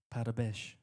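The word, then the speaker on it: Parabéns: On three, we're all going to say Oh, how do you say it in Portuguese? Parabesh. Okay, we're going to say Parabesh.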